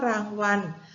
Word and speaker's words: รางวัล: ว่า การ นะ คะ เด็ก ๆ ดู คำ ว่า รางวัล มี รอ ลิง เป็น ตัว สะกด นะ คะ แต่ เวลา เรา เขียน คำ อ่าน เรา จะ ต้อง เขียน เปลี่ยน จาก ลอ ลิง เป็น นอน หนู เพื่อ ให้ ตรง มาตรา ส่วน คำ ว่า การ นะ